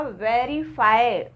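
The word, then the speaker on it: verify: से मिल जाता है जब हम वे को प्रोनाउंस करते हैं ठीक है जैसे हमने यहां बोला वेरीफाई वेरीफाई तो हमारा ऊपर वाले टीथ नीचे वाले लिप्स से मिल रहे हैं ओके तो इसी तरह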